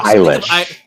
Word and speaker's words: Eilish: Eilish. Sounds... Yeah. It rhymes with Irish.